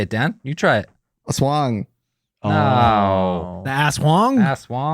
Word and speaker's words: Aswang: The ass wang. No joke. The ass wang. The ass. The I'm wang. not gonna correct your pronunciation.